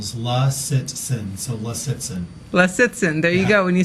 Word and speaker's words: Lisitsin: how you pronounce it correctly it's a three syllable slaw citizen so listen les it's in there you go when you say it quickly